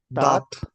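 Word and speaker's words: date: हमने क्या सीखा था sound of ए is always uh and sound of ई इज अ तो इसको कैसे प्रोनाउंस करेंगे दे न दा दात दात माल साल ओके ट ठीक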